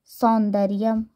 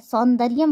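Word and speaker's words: सौंदर्यम्: यम सुंदर जोड़ सज सौंदर्यम ठीक है सुंदर्य नहीं ना होता है सौंदर्यम होता है शब्द को सुधार के बोलना होता है य पर ठीक है शब्द को क्या करेंगे सही करके बोलेंगे सही उच्चारण करेंगे तो सेक प्रत्यय से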